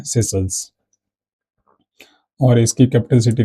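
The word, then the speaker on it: Seychelles: सेशल्स क्या है, एक आइलैंड है, ठीक है, आपने सुना होगा नाम, इसका प्रोनाउंसिएशन ऐसे मतलब सेशल्स होता है, ठीक है, तो ये आप राय याद रख सकते हैं।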